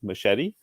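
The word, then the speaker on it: Micheddy: But machete, but that's spelled like M-I-C-H capital E-D-D-Y, so Michelle plus Eddie, machete, says, "Hi, I like your podcast, but could you please stop saying that Nani is short?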